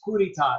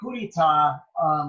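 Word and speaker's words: coup d'état: Actually, it doesn't mean that's how you say that. It's probably not even how you say it, but it's coup d'etat. That's how I learned how to say it.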